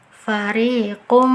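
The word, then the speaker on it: فَرِيقًا مِنْهُمْ: 2 harokat atau lebih cara baca yang betul adalah farikum Nah sudah di tasdid kan dimasukkan ke huruf setelahnya kemudian diberi dengungan ditahan 2 sampai 3 harokat yang keliru fariko Min home Nah tidak ada Tahan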